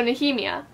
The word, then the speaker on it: Nehemia: pronounced because I checked it up on the pronunciation guide. Let me double check that. No, that's a heme. So Nehemia, and then Yetgar, like Garson, so Yetgar.